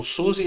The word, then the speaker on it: SUSE: caso do Open SUS o Suzi vem uma palavra alemã porque o SUS é de uma empresa alemã que seria mais ou menos como sua sua né algo assim mas